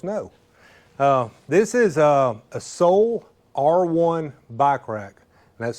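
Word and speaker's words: Sole R1: Uh, this is a Soul R1 bike rack. That's spelled S O L E, the letter R1, the numeral one. Soul R1 bike rack.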